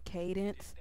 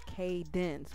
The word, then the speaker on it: Cadence: No, it's Cadence with the S in her name.